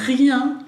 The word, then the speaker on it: rien: Parece que la R, ¿bien? Tipo gárgara cuando uno se hace un buche, rien. Y la N, ¿bien? Acuérdense que es bien nasal, rien, rien.